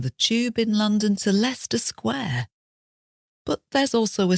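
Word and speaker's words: Leicester: so is lerer now if we were American we would have simplified this spelling and spelled it l s r Lester and if you bear that in in mind leester isn't difficult to say even leerer and there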